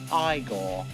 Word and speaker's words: Igor: Frankenstein is aided by Igor, played by It's pronounced Igor.